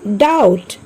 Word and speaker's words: doubt: See the word doubt. Here also B is silent.